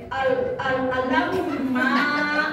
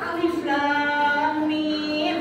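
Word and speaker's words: الم: Dia pertama baca alif lam mim, dia bilang begini, al-lam ma gitu. Cucinya benar. Itu bukan alamat nih. Itu mah alif lam mim gitu.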